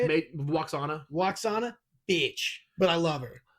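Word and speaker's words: Lwaxana: Waxana. Yeah, how do you say it? Waxana, bitch.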